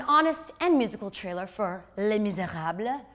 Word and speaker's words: Les Misérables: First up, an honest and musical trailer for Les Misérables. I say it like that because I speak French, Milana.